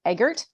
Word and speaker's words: Eggert: start with your bio so this is Eggert pronounced it right correct good okay it's already starting